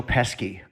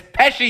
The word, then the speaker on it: Pesci: does it right yeah my mother used to say Joe peski your mother was pesky she could never say his name right she wasn't doing it to be cute no oh my god I grabbed her shoulders and screamed its Pesci you dolt yeah I wouldn't call